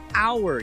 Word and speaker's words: hour: see this word our we don't pronounce the H it's not power like howdy or how no it's our you swallow that H